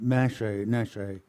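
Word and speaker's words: Neşe: Oh, Nesce. It rhymes with Neshe. There's a, I don't know what this is. It's a Turkish name.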